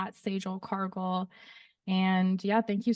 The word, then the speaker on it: $EJ: Once again, Sage spelled dollar sign EJ, pronounced Sage.